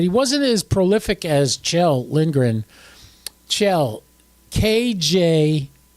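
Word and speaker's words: Kjell: woody twice but he wasn't as prolific as chel lingren chel KJ e l is how you spell his name and it's pronounced chel so that's cool uh yeah I like to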